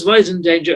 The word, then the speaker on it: Wiesendanger: brother hello welcome to the show oh it's voice in danger i don't know if i'm pronouncing that right that is correct for producer